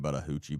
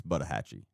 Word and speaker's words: Buttahatchee: I was saying Buttahoochie, but that's not what it says. It's Buttahatchee.